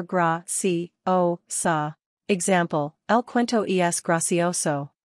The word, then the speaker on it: graciosa: Pronunciation, gra-si-o-so or gra-si-o-sa.